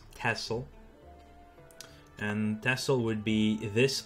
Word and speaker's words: Texel: it that way it it's written Texel but we pronounce it tessel yeah that's actually a